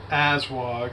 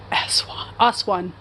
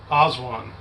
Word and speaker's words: Aswan: We went from Aswag, and then it was like 3. How you say it? Aswan. Aswan.